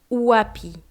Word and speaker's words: wapi: y dans un mot prononcer le W comme si c'était un ou et et prononcer le